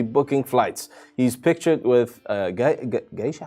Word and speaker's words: geisha: He's pictured with geisha. How the hell? Geisha? Yeah, that's how you pronounce it.